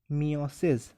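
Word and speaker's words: meiosis: यहाँ पर होगा मियोसिस, जिसको बहुत से लोग मायोसिस भी कहते हैं, कोई प्रॉब्लम नहीं है, स्पेलिंग सही लिखना। आप बोल कह रहे हो उससे कोई ज़्यादा नहीं है फ़र्क पड़ता, मायोसिस या मियोसिस कुछ भी बोलो।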